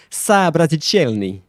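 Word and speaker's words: Soobrazitelny: time the first one is is pronounced sabraticelni sabras that's how that's how you um pronounce it the second one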